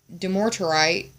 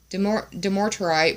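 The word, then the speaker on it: dumortierite: the third eye chakra do more do more to write is how I'm going to pronounce it demotrite brings order to chaos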